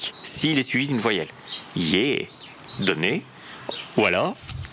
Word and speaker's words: ge: G devient Yé. Donc, le G devient Y s'il est suivi d'une voyelle. Yé.